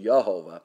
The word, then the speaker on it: Jehovah: Jehovah in Hebrew is actually pronounced Yehovah, and that's the Father, the Son, and the Holy Spirit.